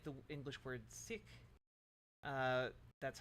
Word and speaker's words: Sikh: all my life wait the correct pronunciation of the word is with a short eye and an aspirated K it sounds most like the word English word sick okay sick sick I'm